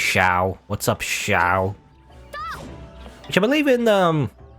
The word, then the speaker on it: Xiao: anyway but i swear it's pronounced xiao not like zhao zhao is like if it's if it's like z you know z i a o zhao otherwise supposed to be ciao anyway uh so we